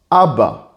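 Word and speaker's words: אבא: with comets is BA the last Aleph does not have a vowel so it's silent so all together it's a BA it means father and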